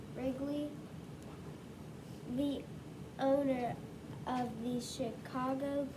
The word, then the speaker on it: Wrigley: don't like but phillip the w is silent ridgely wrigley wrigley the owner of these